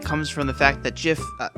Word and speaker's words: GIF: how to say it is it a hard g as in gift or a soft g as in jin few words in the